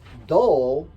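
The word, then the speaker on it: 도: of the key um do is the Korean pronunciation of the Chinese word da which mean as in da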